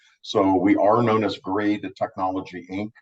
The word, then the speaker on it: Graid: we are known as grade the technology Inc grade as in g-r-a-d-e from a pronunciation that's not g rate um so let me